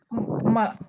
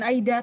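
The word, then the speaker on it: 間: Ma. Kore bacanya ma desu ne. Ma. Bukan kang, bukan Aida, tapi ma.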